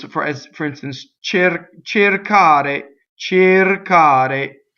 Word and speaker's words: cercare: So this is an infinitive, and the accent is on the a, right? So it's cercare, cercare. So the first E is closed.